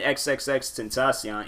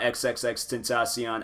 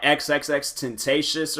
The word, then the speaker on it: XXXTentacion: I found out about XXXTentacion. I remember I could not say his name. I think I said like XXXTentacious or something like that. I know I wasn't pronouncing that man's name right.